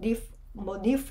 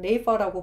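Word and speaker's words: Neefe: 이걸 니프 이렇게 발음하실 수도 있겠지만 저희는 네이퍼라고 발음을 했었거든요. 이게 실제로 유럽에서 부르는 발음인지는 모르겠어요. 우리 교수님이 네이퍼라고 했었어요.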